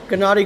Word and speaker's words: Gennady: I think it's a G. Hard G. Gennady Golovkin.